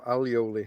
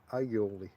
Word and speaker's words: aioli: I had some baguette and chorizo, and a little bit of bread and aioli, or alioli, however you want to pronounce that. I'll go the Spanish way, aioli.